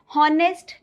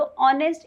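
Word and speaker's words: honest: हॉनरेबल नहीं होता, ऑनरेबल होता है। हॉनेस्ट नहीं होता, अगर हॉनेस्ट बोलते हो तो आज से करेक्शन करना शुरू कर दो, ऑनेस्ट इज़ the correct pronunciation. ठीक है गाइस, तो ये आपको ध्यान में रखना है।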